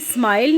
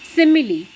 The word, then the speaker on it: simile: ये स्माइल नहीं है, अच्छी तरह से आप इसको देख लीजिए स्पेलिंग को. This is सिमिली. What is simile in fact?